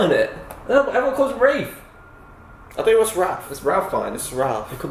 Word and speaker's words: Ralph: just it doesn't work name's ra is it Rafe it's SP Ralph it's not no yes there is there's not there's no there's an l no l and it's Ral you